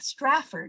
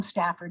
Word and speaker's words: Stratford: artificial uh stafford strat stratford and he's always correcting people too they call him stafford and he always says no there's an r and i find myself